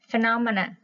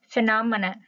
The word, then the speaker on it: phenomena: Phê nó mờ nè, phenomena các bạn ha. Phê nó mờ nè, phenomena. Thì các bạn thấy ha, viết là a các bạn ha, mà phát âm là ơ các bạn ha.